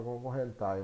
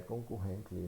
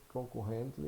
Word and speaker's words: concurrently: Lá ele coloca concorrentai, mas na verdade é o nome que é concurrently, né? Concurrently, não sei se a pronúncia está correta, mas concurrently, ou seja, não é tile aqui no final, é tli, né?